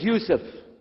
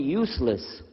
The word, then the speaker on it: Yusuf: work on it inshallah my name is Yusuf did you say Yusuf let me say Yusuf you're very good I wish you teach my wife she keeps mispronouncing it she calls me useless from the left now